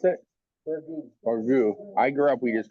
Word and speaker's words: burgoo: Tasting of, how do you pronounce it? Burgoo.